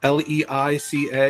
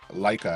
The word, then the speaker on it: Leica: Well, it's with uh with Leica, l e i c a. Oh, yeah, yeah. The Leica, I think is how you pronounce it.